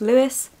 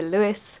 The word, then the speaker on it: Lewes: we are going to louis everyone keeps telling me it's pronounced lewis i'll put it up here in case i'm wrong but that's the pronunciation we're going with because i've said lose and people keep correcting